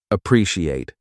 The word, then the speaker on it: appreciate: The pronunciation. Appreciate. 4 parts. Pre-si-ate. Appreciate.